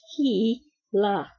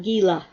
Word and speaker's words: Gila: It is pronounced Gila, not Gila.